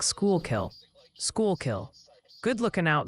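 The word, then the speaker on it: Schuylkill: They say shoe kill is pronounced like school kill.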